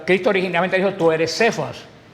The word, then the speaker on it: Cefas: en arameo y en Cómo se dice piedra en arameo cefas piedra se dice cefas por eso Pablo varias